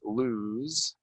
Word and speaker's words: lose: you lose some weight lose right it's gonna sound like a z okay the opposite of gain uh did you lose